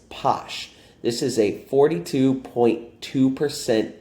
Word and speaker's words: Pox: before this is called posh yes it's spelled poxp-o but the pronunciation is posh this is a 42.2